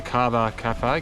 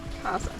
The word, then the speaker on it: Karsa: I don't know how to pronounce it, but um uh we've got to the Cara Cafe. Cara Cafe. Kaza.